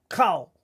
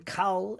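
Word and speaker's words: כָּל: times there's NOA cold the kamat rule is when it is a closed syllable usually the first the kamatz is said at a short o sound now that may be more like the modern Hebrew but rather than coal it is co and then we read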